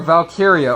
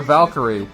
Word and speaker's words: Valkyria: probably surrender she's a Valkyrie Valkyria or a Valkyrie however you want to pronounce it either way selves